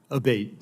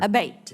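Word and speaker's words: Abbate: We've heard it pronounced 3 different ways today in the hearing. Abate, Senator. Abate, Yes.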